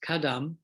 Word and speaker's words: Kadam: to use it now the tibetan word which is pronounced kadam consists of two syllables ca refers to the buddha's speech and dumb to instructions jet song kappa once